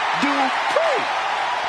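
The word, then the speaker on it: Dupri: Michael, it's pronounced Dupree.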